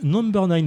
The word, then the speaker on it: NMBR9: Euh, c'était donc Number N.